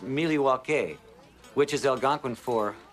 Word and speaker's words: Milwaukee: Indian name yes Pete it is actually it's pronounced milw which is El gonin for the good land